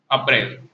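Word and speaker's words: apparel: अप्रैल। क्या बोलेंगे इसको? नहीं नहीं, प्रोनाउंस कैसे करेंगे? अप्रैल नहीं, अप्रैल नहीं, हाँ ठीक है, चलो प्रैक्टिस करेंगे, हो जाएगा। समझ में आ गया? अप्रैल नहीं, अप्रैल है, अपेरल।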